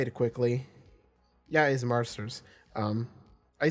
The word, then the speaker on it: Marsters: name Marsters I I because it's not Masters it's Marsters or or something like that right I'm I'm not mistaken in that and I just say it quickly yeah is Marsters um I say it